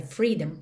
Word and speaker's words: freedom: Atenção que esse O da palavra freedom praticamente não é pronunciado. Você não pensa em freedom. Você pensa em ir do D direto para o M.